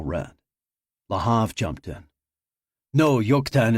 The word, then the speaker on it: Joktan: Operation Jokan, Nicole read. Lahav jumped in. No, yuktan is pronounced with a Y sound, not a J.